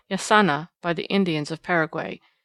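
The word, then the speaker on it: jacana: spot a still more interesting bird was the yakana as it is spelled in books but pronounced yasana by the Indians of Paraguay a quaint rail-like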